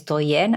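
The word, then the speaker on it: Douyin: so in China Tik Tok is known as doen I think I'm saying it right d o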